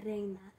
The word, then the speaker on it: Reina: Reina means queen, but how you say it in Spanish is Reina.